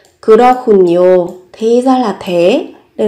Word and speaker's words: 그렇군요: Các bạn có đây, về cách phát âm, các bạn có âm hờ và cờ kết hợp với nhau. Các bạn phát âm thành khờ và n các bạn nối lên thành nhiều. 그렇군요.